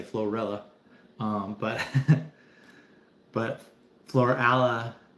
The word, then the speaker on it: Florala: That it's called Florala, Alabama. It's Florida and Alabama put together. Um the locals say Florilla.